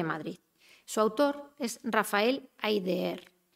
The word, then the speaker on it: Háyder: su autor es rafael háyder lo pronunció así tal cual se escribe porque en realidad hay de er no es un apellido extranjero háyder es el seudónimo